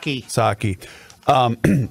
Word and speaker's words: Psaki: Is that how we pronounce her name? The White House press secretary? Psaki.